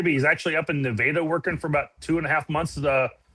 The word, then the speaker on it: Nevada: I've heard Nevada. It's pronounced Nevada in Missouri. Missouri is Nevada, yeah.